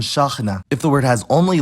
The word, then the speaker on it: شاحنة: The stress depends on the pattern, but to start easy, if there's one long vowel in the word, that vowel is stressed, like in ghazal and shakhna.